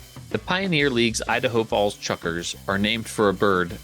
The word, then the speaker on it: Chukar: bird to the region the word chucker is pronounced roughly the